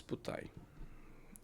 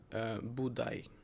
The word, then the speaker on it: Budai: and his name was Putai. Also, we can find Budai. It's I think a Western pronunciation. So instead of Putai, we found Budai, and we also find